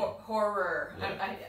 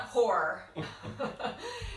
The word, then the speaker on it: horror: horror then didn't you horror yeah it's hard to pronounce in American accent it's not hor it's horror um uh this was